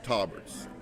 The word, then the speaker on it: Tolberts: It's Tolberts.